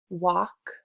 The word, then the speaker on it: walk: Remember that the L is silent.